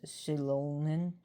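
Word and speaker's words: Xilon: Shilon X I L O N but it's pronounced Shilon and that means the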